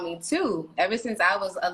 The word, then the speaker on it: Tou: So yeah, everybody thinks it's pronounced Tou or Tau or. I was saying Tau. Yeah, okay. I get it. Yeah, it's Tou. Just simply Tou.